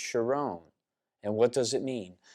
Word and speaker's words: Sharon: Carmel is what Shalom most people call it Sharon like the Rose of Sharon but it's actually pronounced sharone and what does it